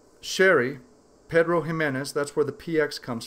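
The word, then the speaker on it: Pedro Ximénez: Barrels that originally contained 30-year-old Pedro Ximenez Sherry, Pedro Ximenez, that's where the PX comes from, because the X is pronounced like an H.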